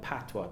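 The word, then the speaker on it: Patois: a dialect you know we call it patwa p-a-t-i-o that's how we pronounce it in jamaica which is a breakaway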